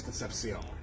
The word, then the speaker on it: Concepcion: imperial court of buffalo connie b holbroom james concepcion thank you so much for joining us yes